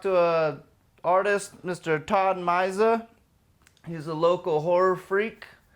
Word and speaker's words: Myzia: Myzia, you got it. See, I've been saying it wrong for so many damn years, but I'm glad to finally get to meet you, buddy.